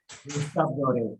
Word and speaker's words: Gustave Doré: Gustave, A vos ver, decís vamos cómo se a pronuncia, yo te lo leo, Gustave Doré dice, pero ¿cómo se pronuncia? Que es Gustave Doré.